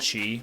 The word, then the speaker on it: qi: QI, and how do you say that? Chi. Chi.